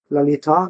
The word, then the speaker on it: Lalita: he had a wife, Lalita, with a long A in the end. That's usually with feminine words. They have long A in the end instead of short.